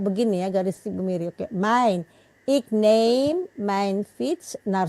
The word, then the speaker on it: mijn: Gimana kira-kira bacanya yang betul? Min. Bukan min. Itu min itu Min. jawab apa? Min plus, tapi ini bukan min. Main. Agak sedikit dibuka mulutnya. Main. Bukan min.